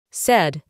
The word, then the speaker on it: said: Si nos encontramos con una A y una I juntas, la pronunciamos como E. Dije. Said.